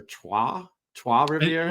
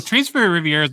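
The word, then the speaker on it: Trois-Rivières: Let's go with Tres Rivieras or Trois Rivieras. Well, Tres Rivieras would be the Mexican way to say it. I think it's whatever the French pronunciation.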